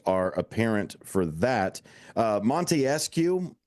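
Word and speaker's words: Montesquieu: apparent for that uh Monte escue is the pronunciation of that um uh that philosopher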